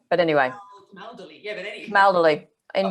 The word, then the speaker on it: Camaldoli: I've heard people call it New Camaldi. There's an extra syllable in there, but anyway. Camaldoli, yeah, but anyway.